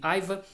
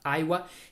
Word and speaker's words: Aiwa: Esta empresa aqui, que é uma empresa japonesa, nós aqui no Brasil chamamos de Aiwa, mas lá na Ásia o pessoal costuma falar pelo nome que é pronunciado lá, Aiwa.